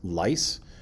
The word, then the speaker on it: lyse: Cells expand, or what is pronounced lyse, and that means they break and they go boom.